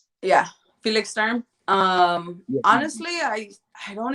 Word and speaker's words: Sturm: who who do you think won oscar versus stern did i say his name right yeah felix sturm um honestly i i don't even remember the